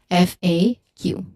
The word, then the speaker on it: FAQ: is generally accepted and what is generally accepted for this word it is to say it as f A Q.